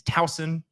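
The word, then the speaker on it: Towson: z where there was an S it is talson it is not thousand John did you know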